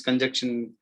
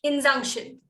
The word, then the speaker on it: injunction: come and put this conjunction. How to pronounce this, ma'am? Injunction. Injunction.